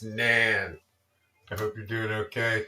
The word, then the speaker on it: naan: So, um, yeah, it's naan, of course, but for our intents and purposes, we're going to we're going to call it nan because it's nan.